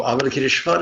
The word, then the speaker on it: Avalokiteshvara: So Avalokiteshvara is very simple. We pronounce the vowels like they're Spanish, the consonants like they're English.